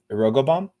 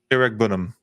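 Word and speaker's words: Iroegbunam: Tim Irogobom, how's that how you pronounce it? Iregbunam. That one. Yeah, that one.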